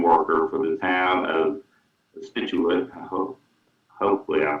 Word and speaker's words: Scituate: And you did a great job in my town pronunciation. A lot of people do not get that. Scituate.